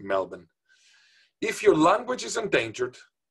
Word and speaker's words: Melbourne: Some Americans pronounce it Melbourne, but actually it's Melbourne. No R, pronounced Melbourne.